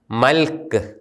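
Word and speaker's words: ܡܠܟܝ: നമ്മൾ ഉച്ചാരണ നിയമങ്ങളിൽ പഠിച്ചതാണ്, ഒരു പദത്തിൻ്റെ അവസാനത്തെ അക്ഷരം യൂത് വരികയും ആ യൂതിനും അതിൻ്റെ തൊട്ടു മുമ്പുള്ള അക്ഷരത്തിനും സ്വരമില്ലാതിരിക്കുകയും ചെയ്താൽ ആ യൂത് ഉച്ചരിക്കുന്നില്ല. ഇത് മൽക്ക് എന്ന് തന്നെയാണ് ഉച്ചരിക്കുന്നത്. എൻ്റെ രാജാവ്, മൈ കിങ്.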